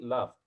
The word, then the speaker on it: laughed: هنا الجي اتش هنا في الكلمة دي هتتنطق، هتاخد صوت الاف، فهتقول she laughed.